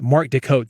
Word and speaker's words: Mark Des Cotes: thing we're on podcast Mark Deco that's how to say it though so look him